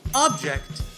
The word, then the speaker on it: object: When you say it with the stress on the second syllable, it means to disapprove or disagree with something. I object is a common phrase you'll hear by an attorney during a court trial when the other side says something questionable. Now, if you stress the first syllable, object, the meaning changes to a thing other than a person.